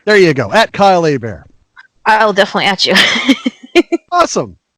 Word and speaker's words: Hebert: In case you're going, well, it's Hebert or Herbert, isn't it? No, my last name's Hebert, like a bear is going to attack me. Kylehebert. It's pronounced Hebert because it's a Louisiana French name.